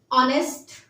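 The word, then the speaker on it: honest: से स्टार्ट होते हैं लेकिन वहां पर एच जो होता है वो साइलेंट होता है जैसे ऑनेस्ट आर एन आर एन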